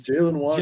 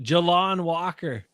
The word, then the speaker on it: Jalon Walker: It's Jaylen Walker. Jalon. Jalon Walker.